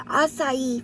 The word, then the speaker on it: acai: of caves acai the acai facebook i learned how to say it always said okay but it is acai face milk this is